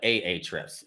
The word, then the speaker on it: Ahrefs: you see right here a-h-r-e-f-s i never know if i'm pronouncing that right i call it ahrefs okay some people may call it aa trips but going with our